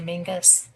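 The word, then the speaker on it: Menzies: It's spelled Menses, but they say Mingus.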